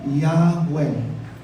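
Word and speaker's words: Yahweh: I am yun ang pangalan ng Diyos I am that I am Yahwe. Yeah. J a H. Walang J pronounce halleluin ng panginoon nakakalungkot may sumelujah.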